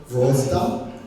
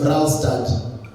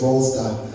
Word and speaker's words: Vrolstad: Her name is Ellen Vrolstad, but because we're in Kenya, we'll call her Vralstad. But I talked to her, I don't like mispronouncing names, so her name is Vrolstad.